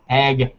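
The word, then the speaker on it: Hegner: It's spelled H-E-G. It's Hagner.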